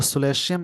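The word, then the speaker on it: solatium: और सोलेटियम, सोलेटियम मतलब होता है कंपनसेशन। यहाँ पे एक वर्ड मिला सोलेटियम, ये वर्ड नाउन की तरह वर्क कर रहा है। इसको सोलेशियम ऐसे बोलते हैं प्रोनाउंसिएशन के रूप में, बट बहुत सारे वर्ड्स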